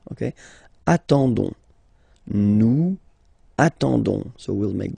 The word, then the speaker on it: attendons: nous, so O-N-S, okay, you don't pronounce the S, so you get only this on sound, okay, attendons, nous attendons, so we'll